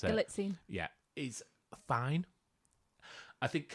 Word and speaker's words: Galitzine: I think Nicholas Galzatine, if that's how you pronounce it. Galitzine.